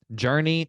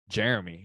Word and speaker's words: Journey: Journey, dude, it looks like they spelled his name wrong, but his name is Journey. It's not Jeremy, it's Journey.